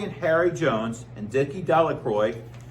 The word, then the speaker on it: Delacroix: It reads that Bobby and Harry Jones and Dickie Delacroix, the villagers pronounced this name Delacroix, eventually made a great